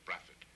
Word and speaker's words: Brathwaite: Peculiar pronunciation, really, because it all depends on which part of the West Indies you are. It is spelled B-R-A-T-H-W-A-I-T-E, which would pronounce more like Brathwaite. But particularly in Barbados and Grenada, it is pronounced Braffitt.